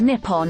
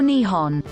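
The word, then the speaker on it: 日本: The name for Japan in Japanese is written using the Kangji and pronounced Nippon or Nihon.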